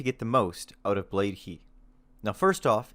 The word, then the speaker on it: Blade: Hi: the gear to get the most out of blade heat now first off its recently come to my attention that I've been pronouncing it wrong in my videos and been saying blade hi so for anyone else who doesn't know it's